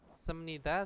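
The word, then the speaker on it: 습니다: cara membacanya karena apa B bertemu dengan Nien itu bacanya adalah miem ya bepnya itu berubah menjadi m jangan senida ya bukan bacanya semnida Oke Nah kita baca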